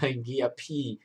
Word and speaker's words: ngiyaphila: And how you spell it, ngiyaphila, like how you peel your banana, ngiyaphila, but you add that ler, which will create that la sound.